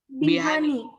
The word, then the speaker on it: Bihani: How you pronounce it? Bhani. Bihani.